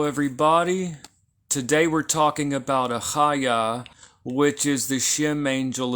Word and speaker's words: Achaiah: But if there's no dagesh lene, it's more like a ch, like the letter chet, okay?